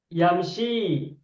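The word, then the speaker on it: يمشي: ya juga nah tapi cara bacanya berbeda yang nomor satu ini bacanya Bagaimana yamsyi panjang kan yamsyi begitu kan sedangkan nomor dua Bacanya apa yansi atau yansa yansa berbeda Kenapa berbeda Kenapa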